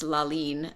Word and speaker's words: Lalin: And when she was writing this work for us, so the work is actually pronounced Lalin, and that's how she's phonetically written it out in the score, which means moon, and that was inspired